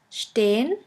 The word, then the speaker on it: stehen: The next letter combination is SP, SP, ST, ST, which is pronounced like the letter combination SHP and SHT.